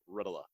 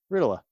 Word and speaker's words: Ritola: Today we have the one and only Ritola. That's how I say his last name. pronounce your last name for everyone. Ritola. I said it right. Sometimes we call him Ritalin, sometimes Ritola. But yeah, Ritola.